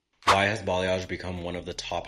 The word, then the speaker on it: balayage: Pronounced balayage, balayage.